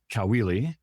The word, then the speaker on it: Caoili: so he says, "Oh, it's really easy. It's like a cow doing a wheelie."